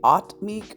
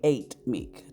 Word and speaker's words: Atmic: The fifth plane is pronounced either the Atmic or the Eightmic, depending on who you ask.